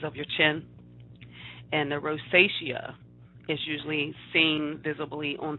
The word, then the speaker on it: rosacea: advanced stages of this condition or rosacea and rosacea is how you pronounce it and that's usually on the outer